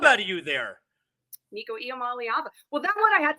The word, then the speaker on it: Iamaleava: like the next coming, look like the good pronunciation. Good job out of you there. Nico Iamaleava.